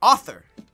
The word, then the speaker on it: Arthur: Did you just leave the last R off? Arthur. Are you rearranging these letters? How do you say it? How do you say it? Author. What? You got to put that U in there.